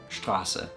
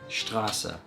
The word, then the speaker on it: Straße: Like you have, for example, Straße, S-T-R-A-S-S-E, Straße. Every letter is pronounced. There's nothing that's left out.